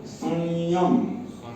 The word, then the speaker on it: संयम: के बाद स य संयम संयम वो उसका उच्चारण य के ऊपर थोड़ा नासिका के साथ लेके ही बोलना पड़ेगा स सय संयम